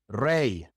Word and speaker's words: rey: end of a word, in which case it's pronounced E, just like the Y in English, muy, rey.